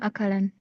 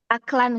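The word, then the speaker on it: أَكْلًا: Akal ta'ama akalan. Maf'ul mutlak. Akalan atau aklan dibacanya? Aklan Ustaz, aklan. Aklan, oke.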